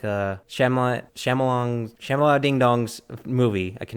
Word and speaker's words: Shyamalan: It's going to seem like a mess, but like a Shyamalan Ding Dong's movie. I can never pronounce his last name. M. Night Shyamalan?